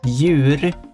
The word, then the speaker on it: djur: So basically, the first four letters there is djur, as mentioned. The consonant before that, the J, is silent in many of these. Djur, which means animal. Oh, so D is silent.